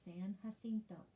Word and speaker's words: San Jacinto: battle of san jacinto i know that looks like a j but remember in spanish it's pronounced like a h so san jacinto it's 18 minute battle